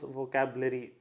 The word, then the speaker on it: vocabulary: इसमें आर से पहले ए है और आर के बाद वाई है, बट the sound which comes when I pronounce vocabulary, it is R के बाद में E का साउंड है, so I need to pronounce R.